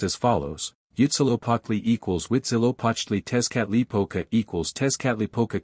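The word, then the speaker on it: Huitzilopochtli: The names of the more important gods are pronounced as follows. Yutzilopotli equals Witzilopochtli, Tezcatlipoca equals Tezcatlipoca, Quetzalcoatl equals Quetzalcoatl, Zype equals Xipe, Calchihutlicute equals Chalchihuitliquai.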